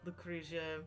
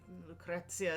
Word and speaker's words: Lucrezia: lot of them we we say Lucretia Lucrezia is probably the proper Italian way to say it and if you go